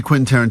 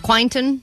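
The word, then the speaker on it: Quentin: Vanessa has never seen a Quinton Tarantino movie and she's never successfully pronounced Quinton Tarantino. That's true. all week as she's been talking about this prize we have. She's been saying quasa quint quainton quinta. So we're like what you talking about quantino still?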